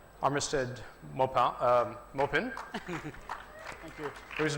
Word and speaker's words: Armistead Maupin: On my right, Armistead Maupin, Thank you. whose name I've been mispronouncing many years, Armistead Maupin.